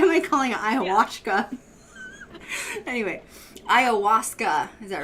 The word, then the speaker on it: Ayahuasca: Ayahuasca, yeah.